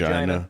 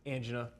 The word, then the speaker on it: angina: Angina sometimes pronounced angina, but if you look at pronunciation, guys, it's like American English is angina, British English is angina. So take your pick.